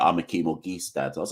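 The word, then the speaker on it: Auguste: In St. Lucia, his surname is pronounced Orgeese, not August." And that's how I've known ever since then, straight from the horse's mouth, so to speak. So Akeem Orgeese.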